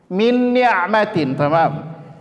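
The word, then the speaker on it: من نعمة: juga di sini maka cara membacanya adalah ditahan didengungkan dua harakat yaitu bunyinya Mintin sekali lagi perhatikan Mintin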